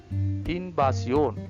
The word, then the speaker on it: invasión: Invasión, invasión. Letter V, B sound.